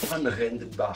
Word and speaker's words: Johann Rendenbach: Of course, JR stands for Johann Rendenbach, which is German, and I taught her how to pronounce that. Johann Rendenbach from Germany. Yes. JR. Johann Rendenbach.